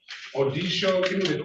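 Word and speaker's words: Odesho: Detroit versus Martin Odisho. Odisho. Give me the correct pronunciation, sir.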